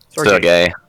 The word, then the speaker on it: Sergei: Sergey. Sergey, because he's gay. Yeah. Yeah, more like the Russian name.